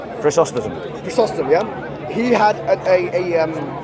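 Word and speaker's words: Chrysostom: read john of christos yeah that's how he pronounced his name chris austin yeah he had a am and next to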